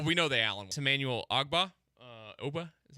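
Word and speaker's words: Ogbah: tagged yeah well we know the Allen Emanuel agba Oba is how you say his name um and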